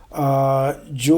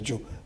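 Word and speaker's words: Jzo: Joe what they call it j z o. The z is silent. But it's there. It's j z o. A chat with Dr. Joe.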